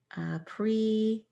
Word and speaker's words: appreciate: Pre, appreciate. Appreciate. Sounds like appreciate, doesn't it? So this had a long E sound. Appreciate. It turns into a sh sound when we blend that S into that E.